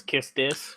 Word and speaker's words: Quistis: So Typically, I prefer not pronouncing the "w," just so it's Quistis.